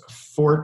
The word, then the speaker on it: Forte: like that yeah so name of the company is fort shelter it's spelled forte that's my last name and uh we have